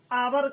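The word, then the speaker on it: hour: आवर का शब्द जो है भले ही कंसोनेंट से शुरू हुआ हो, लेकिन इसका उच्चारण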